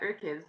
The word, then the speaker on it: UrKiz: You said I believe it was in 2017 is when you created your kids, or how do you say it? You are kids, Yeah, your it's exactly like that. UrKiz, yeah.